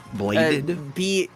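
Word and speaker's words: Blaidd: Bladed. Yeah, BLAIDYDD. Blade. Oh, it's spelled like the guy from Elden Ring.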